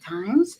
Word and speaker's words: Thames: So, So it's like the Thames River in England.